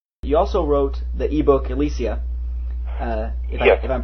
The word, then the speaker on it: Ylesia: idea how that's pronounced I always pronounce it elesia myself but uh you know it's I always I always went for elisia because it sounded like um alician fields and right yeah now